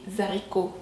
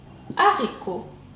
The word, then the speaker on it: haricots: ce petit les arbres toutefois on ne dit pas les haricots mais les haricots ou n'y avons pas de liaison du à la lettre